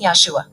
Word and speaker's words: Yahshua: two letters as yahweh the new pronunciation was produced by incorporating the pronunciation of the first syllable of yahweh into yahushua producing yahshua language of the new